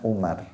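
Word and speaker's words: عمر: Abdullah bin Amrin, kalau ada wawunya bacanya Amr, kalau nggak ada wawunya Umar.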